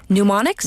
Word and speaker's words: mnemonic: I'll let you pronounce it. It's MNEMONIC. Mnemonics?